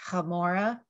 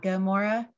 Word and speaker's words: Gomorrah: and so he said the pronunciation was hamora and not gomorrah and then he sat